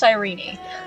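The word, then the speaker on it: Cyrene: I'm so annoyed that they Her name is pronounced Sirene out of everything.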